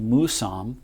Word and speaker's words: Mousam: it's it's an indian word and she said musam and she pronounced it it's supposed to be pronounced musam she said it means grandfather that's very important